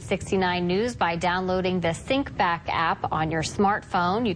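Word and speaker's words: Syncbak: go to the App Store and look for sync back that is spelled s y n c b a k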